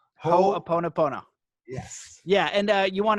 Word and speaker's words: Ho'oponopono: You know, I tell people just remember Ho, and then after you remember Ho, it's Oponopono. Ho'oponopono.